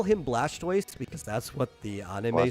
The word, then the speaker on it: Blastoise: um we call him Blastoise because that's what the anime says um it's blastis it's it's actually supposed to be blasted like a tortoise oh yeah same with